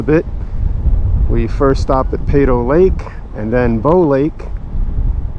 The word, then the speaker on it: Peyto: There's many uh that this lake is named after this gentleman, Bill Pedo. So that's the proper pronunciation, Pedo.